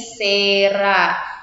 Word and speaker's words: Cera: huruf s nah contohnya Cera diucapkan menjadi Sera Kenapa menjadi Sera karena tadi huruf C ketika bertemu dengan huruf e Ki dan Y maka huruf C akan menjadi huruf s contoh yang kedua citri